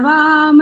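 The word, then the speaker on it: वाम्: इधर आ जाए तो कृतन वा वा थोड़ी ना है वाम अनुस्वार भी तो लगा है ऊपर स्वर भी लगा और स्वर के साथ साथ अनुस्वार भी लगा ध्यान से देख ठीक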